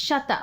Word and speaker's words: Sweta: It's not Sweta, but it should be, because that's how it's spelled. Sweta, yeah. No, it's Sweta. It's Sweta.